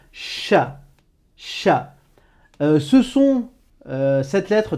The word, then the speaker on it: ش: Mais en l'occurrence, c'est un son super simple à prononcer, puisqu'il existe en français de la même manière.